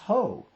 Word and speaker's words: Hoh: to the whole rainforest yes it's pronounced hoe the road that's coming